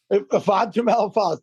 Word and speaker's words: Ifeatu Melifonwu: Our safety, I'm not going to try to pronounce his name. Ifeatu Melifonwu. Ifeatu Melifonwu, thank you.